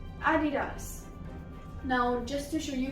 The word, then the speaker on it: Adidas: This word is from America, so it is pronounced same everywhere. Nike, right. Moving on to another very famous shoe company, Adidas. Adidas.